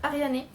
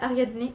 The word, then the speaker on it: Ariane: Alors je vais dire Ariane, et pas Ariadne ou Ariane, parce que l'autrice a choisi d'écrire les mots avec, il me semble, la prononciation grecque, donc je vais dire